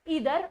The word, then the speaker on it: either: ईदर एंड और, EITHER, इसकी pronunciation आइदर नहीं होती, इट्स ईदर और।